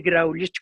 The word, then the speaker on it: Graulich: Es más, me puedo contar una historia de nuestro querido Miguel Graulich, voy a decir Graulich como se pronuncia y no como se pronuncia en francés, que antes de que